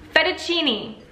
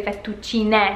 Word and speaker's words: fettuccine: E questo lo so che c'è la E alla fine, quindi dovrebbe essere fettuccine, no? Ma gli americani, in inglese, la E dopo una parola noi pronunciamo I, come la lettera I.